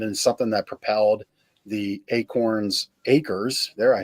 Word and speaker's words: Acorn Acres: And then that blossomed into something that propelled the Acorns Acres.